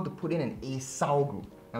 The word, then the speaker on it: acyl: He's going to show you how to put in an acyl group. Now notice my pronunciation, not alkyl. Acyl, the C, okay?